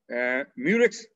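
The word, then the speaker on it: Muehrcke: and after chemotherapy then muric's paired white bands the murics in which h is silent these bands are parallel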